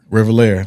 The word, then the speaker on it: Revelheir: Revelheir, like heir, like your heir to the throne.